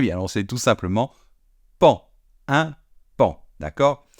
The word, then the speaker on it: paon: Paon, pon, pon, pon. Eh bien, non, c'est tout simplement pan. Un pan, d'accord? Exactement comme si ça s'écrivait P-A-N.